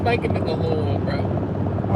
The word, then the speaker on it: Louisville: You're not making it to Louisville, bro.